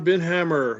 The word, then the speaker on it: Binhammer: for the nature conservancy did i destroy your last name or is that how you pronounce it oh you got it just right thank you senator